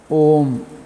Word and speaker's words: ओम: 8 मात्राओं का उच्चारण होना चाहिए। ओम, चढ़ करके फिर उतरते नीचे आना चाहिए। ओम, मेरा कंठ बैठ गया, उतना अच्छी तरह उतरना आ रहा है।